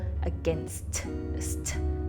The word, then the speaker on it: against: so the word against any time a word ends with two consonants is usually very challenging so the word against is a very common word that we tend to mispronounce so it's more to